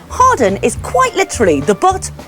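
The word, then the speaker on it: Hawarden: incarceration at Flint jail so that's Harden not haarden always go with the rude version moving on next it's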